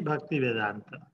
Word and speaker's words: Bhaktivedanta: When I introduced him to my class, he said, Swamiji Bhaktivedanta.